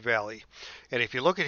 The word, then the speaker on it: Valle: at this is Dave Valley Valley Vale however you pronounce this I think it's pronounced Dave Valley and if you look